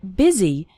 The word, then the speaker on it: busy: in fast spoken English the word busy is pronounced with an i sound busy and the word